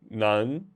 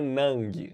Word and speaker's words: 能: Só lembrando que a pronúncia do G é o seguinte, você quer pronunciar, mas ele não sai, ó. Não, não, não. Se fosse assim, seria nem, nem, nem. Como tem o G, nan, nan, beleza? Então, nan, não é nang. Nang tá errado.